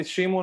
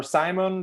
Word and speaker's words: Shimun: Yeah, it's kind of like you can call me Shimun or Simon. They're both technically correct, only in different languages.